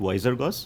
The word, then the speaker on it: Wizergos: Goos right so actually we pronounce it wiser go okay and uh it